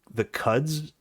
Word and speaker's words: Quds: But this is The outlet I'm reading this from is called the I guess it's pronounced the Cuds News Network. It's QUDS, like Cuds News Network or QUDS, and it looks like